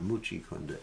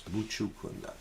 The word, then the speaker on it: Mucukunda: Some devotees pronounce it as Mucukunda. It's not Mucukunda, it's Mucukunda.